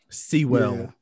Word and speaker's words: Sewell: uh a town called seoul new jersey it's it's not pronounced how it's spelled it's like see well um it wasn't like sewer but uh sewell new jersey i was